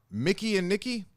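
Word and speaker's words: Mikey and Nicky: Mickey and Nikki, even though it looks like it's spelled Mikey and Nikki.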